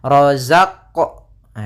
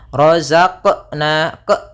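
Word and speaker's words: رَزَقْنَا: Kemudian yang kedua dia menambahkan di huruf qalqalahnya ada hamzah misalnya rozaq naq. Ah itu ada tambahan hamzahnya sehingga dia tidak dibaca dengan tambahan hamzah ataupun yang seperti tadi. Maka cara membacanya adalah rozaqna.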